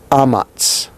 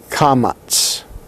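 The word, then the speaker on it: קָמָץ: This particular one is called the amats, amats. Or some pronounce it kamats. But this sound actually, the ah there, is with that glottal stop in front.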